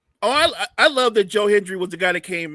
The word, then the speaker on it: Joe Hendry: from the crowd, man, Joe Hendry, am I I don't know if I'm pronouncing that right. No, you got it right.